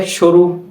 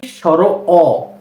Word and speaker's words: স্বর অ: চলুন, এই যে বর্ণটি এটা হচ্ছে কি স্বর অ, এই বর্ণটাকে অনেকে বলে সরু। না, সরু বলা যাবে না। এই বর্ণটার সঠিক উচ্চারণ হচ্ছে কি স্বর অ।